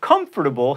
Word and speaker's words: comfortable: and especially not expecially comfortable has four syllables and it's larvae or